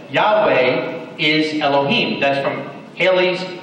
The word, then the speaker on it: Yahweh: generation after the Exodus that clearly pronunciates the Creator's name as Yahweh, the people of Yahweh.